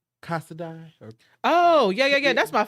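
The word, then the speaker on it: Casadei: them shoes um and i just learned how to pronounce this brand today because i've always um struggle with their name and it's casada oh yeah yeah that's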